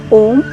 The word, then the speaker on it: om: of peace and calm om is considered the primordial sound of the universe the first sound this universal sound is a combination of three syllables r u and ma when we pronounce